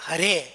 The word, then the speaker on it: Hare: Because in the phonetics of their language, there's no R. We say Hare, H-A-R-E. There's no R in their pronunciation.